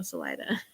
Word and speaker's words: Salida: And I would go to say it wrong, and she'd be like, no, Salida.